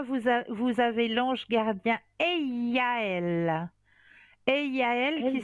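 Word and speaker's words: Eyaël: Eiaël qui Elle, s'écrit oui, oui.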